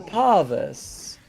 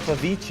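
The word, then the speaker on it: Pavise: I've heard so many different ways of pronouncing this item. Just like what you say, you're wrong, most likely. I mean, it's all of them are good. Like I know Pavice is popular as well.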